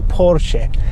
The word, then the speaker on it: Porsche: alıp Orduspor şeymiş Evet arabanın doğru telaffuzu Porsche ama ben Porsche demişim videoda O benim için yine